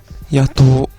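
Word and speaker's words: 夜盗: You may recognize the kanji as the first character (pronounced “ya“) means “night” and the second kanji character (pronounced “tō“) means “steal” or “rob”.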